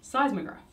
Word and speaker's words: seismograph: How do you pronounce it, though? Seismograph.